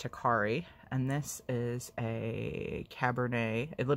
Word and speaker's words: Hikari: I have this, I like to say Hi Carrie, but I'm sure it's pronounced Hikari.